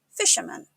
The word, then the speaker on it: fisherman: Fisherman. A fisherman is someone who catches fish, often for a living. It's pronounced fish-er-man. Make sure to emphasize the first syllable and keep the man at the end soft, man.